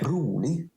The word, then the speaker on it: rolig: Rolig, kjølig, bord, brød, det, dårlig. Dårlig. So how? Oh, for adjectives, you don't pronounce the ig, and for nouns, you don't say the d or t sound.